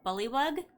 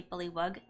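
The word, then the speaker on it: bullywug: it would be a bully bug if I'm pronouncing it correctly some people say probably I I but I see it's spelled with a w-u-g so I usually say bully wug um they do speak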